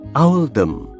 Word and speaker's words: Oldham: Pilihan ini dibuat untuk mencerminkan pelafalan Oldham dalam aksen lokal, yaitu Owldham.